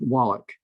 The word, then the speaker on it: Wallach: okay um so yeah my last name is pronounced Wallach oh hey Hey listen